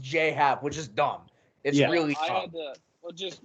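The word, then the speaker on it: J.A. Happ: j cap stinks i i believe it's j hat it is just j pronounced j hat which is dumb well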